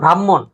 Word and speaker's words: ব্রাহ্মণ: অর্থাৎ যেমন ব্রাহ্মণ, আগে হ পরে না ম না, কিন্তু উচ্চারণ হবে আগে ম পরে হ। ব্রাহ্মণ নাকি ব্রাহ্মণ, ব্রাহ্মণ তো বলি না, ব্রাহ্মণ এটাই বলি।